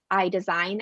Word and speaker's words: Aille: With the pronunciation of that name, it's actually a common question as to how you actually pronounce it, because it's spelled more similar to ale, or sometimes people will call us. They think but really it comes from the French verb aller, which means to move forward.